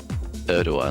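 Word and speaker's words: Erdoğan: Erdogan, that's how you say it.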